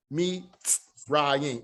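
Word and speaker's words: מצרים: This is Mitz, that's kind of like MTS, Mitz, M-I-T-S, Mitz.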